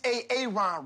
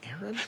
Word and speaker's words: Aaron: Gabby where are you where is ay-ay-ron right now it's pronounced Aaron who would and what would my name I'm